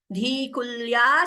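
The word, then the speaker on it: धीकुल्या: Dalanti dhikulya, dhi is mahaprana, dhikulya saranishu patanti vijayatam.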